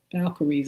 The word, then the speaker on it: Valkyries: try to pronounce it, V A L K Y R I S. Valkyries, I believe that's how you pronounce it, but anyway.